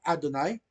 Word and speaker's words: Adonai: la palabra señor verdad Adonai Adonai con una letra a ae así como decir Adonai pero como una donay una aorta básicamente en realidad eso es una que parece ahí es una hatafa tag con una letra La